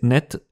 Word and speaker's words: nicht: c'est remarquez aussi que l'adverbe de négation est prononcé net c'est quelque chose qu'on